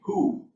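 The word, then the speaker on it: Juh: famous apache chief named who is spelled j-u-h pronounced who he was a famous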